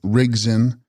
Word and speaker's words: Rigdzin: Text: Rigdzin, pronounced Rigzin, possessing or holding knowledge, These deities are purely tantric.